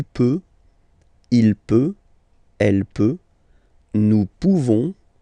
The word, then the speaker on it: pouvons: Okay, nous pouvons. Nous pouvons. Okay, you don't pronounce the final S. Nous pouvons.